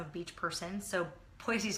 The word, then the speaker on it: Boise: But Boise, pardon me, I say it wrong. I've been told quite a few times.